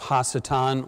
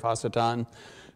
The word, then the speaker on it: Hasatan: is the fact that it's not anglicized. And also, normally in the past, as I discuss the figure of Hasatan and the rise of